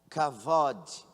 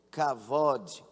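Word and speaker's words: כָּבוֹד: Cavod. Aqui é B, mas é de vav, né? Então se pronuncia, escreve, translitera com B, mas se pronuncia com V. Cavode, glória, glorioso, grande tseba, glória.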